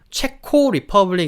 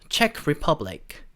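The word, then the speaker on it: Czech Republic: 영어를 기준으로 0 0 영어로 체코를 이야기할 때 책 라고 이야기를 하는 겁니다 그래서 채 코오 리퍼블릭 이라고 하시면 안되고 체크 퍼 브라이트 체크를 퍼부 했 자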